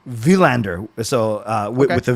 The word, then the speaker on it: Willander: we have to say technically villander with the V because you saw that clip right where they asked well they did ask him what's the proper pronunciation and he didn't miss that yeah so he didn't want to like make anyone feel bad but he did say in Sweden it would be villander so uh with the